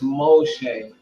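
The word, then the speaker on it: Moche: moshe before most in florida and it is pronounced moshe like this culture right here now let's get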